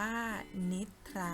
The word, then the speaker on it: นิทรา: นะ คะ เด็ก ๆ หาก เป็น คำ ที่ มี คอ ควบ กล้ำ กับ รอ แต่ ไม่ ออก เสียง ซอ ถือ ว่า เป็น คำ ควบ กล้ำ แท้ นะ คะ และ เป็น คำ ที่ ยก เว้น ด้วย นะ คะ คือ คำ ว่า นิทรา อ่าน ว่า นิทรา เด็ก ๆ อย่า ลืม กลับ